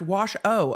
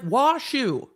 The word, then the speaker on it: Washoe: motion and the affidavit Washoe is pronounced wash oh okay thank you it's spelled shoe it's like washu s-h-o-e English is such a funny language wash oh why not just spell it wash oh then oh why not